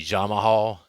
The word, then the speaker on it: Jamahal: getting Yuri pahasa with Jamal Hill I don't know I call him Jamal Hill it's actually jamahal is the way it's spelled but I hear people say it both ways so I'll probably